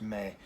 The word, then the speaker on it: me: indirect object pronoun in Spanish as Mae it's pronounced Mae and I'm also gonna put in parentheses this